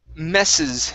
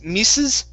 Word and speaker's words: messes: um next up is messes instead of mis mises okay it's an it's a short e sound very nice uh next